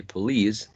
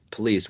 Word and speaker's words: police: Consider that when you say police, the second syllable is stressed. Therefore, usually the first one contains, usually the unstressed syllable contains a schwa, police, which is the case of this one, police. So in the first vowel sound, you should have thought of a schwa.